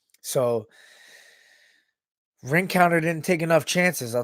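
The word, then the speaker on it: Rencountre: country or him Conte I don't know how to say you know he's French last name but he pronounces it Frank counter so ring counter didn't take enough chances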